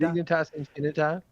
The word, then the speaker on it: Dignitas Infinita: Dignitas Infinita.